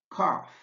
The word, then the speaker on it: cough: Watch out too for words with crazy spellings like cough. The GH is pronounced F.